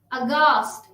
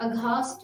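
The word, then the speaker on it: aghast: अगास्ट, अघास्ट नहीं। गेटो, गेटो नहीं। तो हमने यहाँ पे H को साइलेंट रखा और बाकी पढ़ा।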